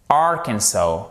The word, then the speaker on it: Arkansas: Par exemple, l'Arkansas, ça se dit en anglais, vous ne prononcez pas le S en fait. Et là, vous avez une voyelle longue sur la fin. Mais vous avez tout de même un accent tonique qui est sur les 2 premières lettres.